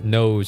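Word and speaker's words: Nous: That's the confirmation of how it's pronounced. It is funny to pronounce it news though. I think now nose sounds cooler if you think about it, but I don't know. Nose. if this was Spanish, you would be pronouncing it as nose.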